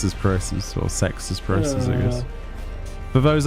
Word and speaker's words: CeX: a WN obviously yeah for some reason it's pronounced sex it's weird I was